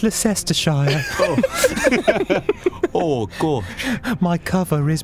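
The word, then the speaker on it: Leicester: ler you're not British it's pronounced Lester oh gosh my cover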